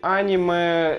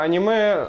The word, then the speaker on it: аниме: знаешь это несколько стиль аниме это сколько стиль французских комиксов для аниме аниме аниме тут уж как хочешь так и можно ставить ударение это стиль несколько ванильной